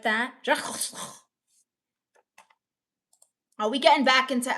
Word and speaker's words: Jacques Cousteau: Betty Hembry says it's pronounced Jacques Cousteau. Very well-known sea explorer. Whatever, I do my own exploring. Cousteau. Jacques Cousteau. Like that. Jacques Cousteau.